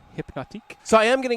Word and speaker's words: Hypnotiq: You got to roll the R. It's Hypnotique.